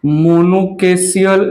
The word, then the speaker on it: monochasial: जो है पहला है यूनिपेरस साइन, यूनिपेरस साइन, इसको जो है हम मोनोकेसियल साइन भी नाम देते हैं। मोनोकेसियल, चेजियल या केसियल, बेसिकली केसियल ही प्रोनाउंसिएट होता है।